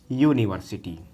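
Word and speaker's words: university: आपका वॉवेल है, लेकिन जब इसका हम उच्चारण करते हैं तो ये हिंदी में होता है यूनिवर्सिटी। यूनिवर्सिटी और यूनिवर्सिटी में हिंदी में जब देखेंगे तो यहाँ पर या से शुभारंभ हुआ है और यह क्या है, व्यंजन है।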